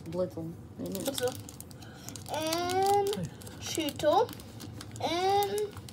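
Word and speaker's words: Blitzle: Bazoo. No, it's Blitzel.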